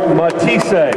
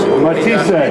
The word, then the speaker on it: Matthysse: Lucas matis matis 14 for matis like to see us have a show any alternate pronunciations are just rumors matis Main Event bacon nabo